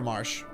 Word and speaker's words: Marche: I'm not sure how else I'm supposed to pronounce that. Marke? Marche? I prefer Marsh.